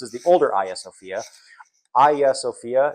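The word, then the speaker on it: Hagia Sophia: Aya Sophia. It's spelled Hagya Sophia but pronounced Aya Sophia.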